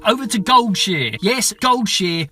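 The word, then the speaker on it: Goldshire: to Gold cheer yes gold cheer not gold Shire if you say gold Shire you have been saying it wrong and now I can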